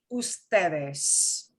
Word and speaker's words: usted: but it is always if you see ud written out you cannot pronounce it as it must be pronounced as a whole word okay if you're talking to a group it will be ustedes usted with an es